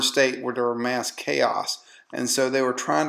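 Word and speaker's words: Zhou: Then you have the Chao, or it's pronounced Zhao Dynasty.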